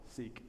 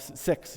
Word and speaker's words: Sikh: Sikh. Sorry. Yes, sorry. Sikh. I just was involved. Sikh, yes, he's Sikh, and actually it's the preferred pronunciation is Sikh, but it sounds like sick, so we say Sikh.